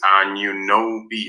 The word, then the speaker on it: Anunoby: Lawrence Cheng sends Anunoby. That's right. That's how we pronounce it.